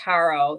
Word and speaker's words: Harjo: harjo is the um or maybe it's pronounced Haro I think the J is probably s silent um and this is